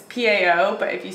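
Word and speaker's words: pão: got more Brazilian style cheese bread I'm gonna mispronounce It Again Boutique show but you're supposed to say like it's Pao but if you say pow that's a vulgar word so it's like wow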